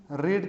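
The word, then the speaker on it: read: भी आर ए दी तो first form में इस इसी स्पेलिंग को हम लोग रीड पढ़ते हैं जबकि सेकंड और थर्ड फॉर्म में इसी को हम लोग क्या प्रोनाउंस करते हैं रेड प्रोनाउंस करते हैं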